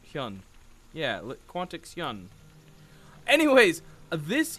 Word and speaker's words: Hyun: to properly say it now i think it's hun hyun yeah quantix yun anyways this is the final